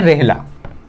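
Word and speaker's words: Rihla: और इनकी जो रचना है उसकी खास बात ये है, इनकी रचना है रेहला, रेहला है या रिहला है, प्रोनाउंसिएशन का कुछ फर्क है, रेहला रेहला जो इनकी रचना है वो हमें थोड़ी सी निष्पक्ष दिखाई देती है।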